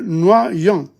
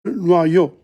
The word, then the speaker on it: noyau: Le noyau, le noyau, le noyau. The pit of a fruit. Le noyau. The I-U is O. O-Y is wa, noa, noyau.